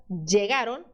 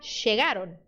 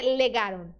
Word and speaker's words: llegaron: Você vai fazer exatamente a mesma coisa que você fez com Y. Você vai escolher um desses sons e vai seguir em frente sempre quando você vê a letra L. Só não faça o som de L, tá? Isso sim, ninguém faz, tá? Não é legaron, legaron, ok?